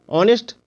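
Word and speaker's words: honest: यानी घंटा अब ऑनेस्ट ऑनेस्ट में देखिए यहां पर एच है तो एच का उच्चारण नहीं हो रहा ओ का उच्चारण हो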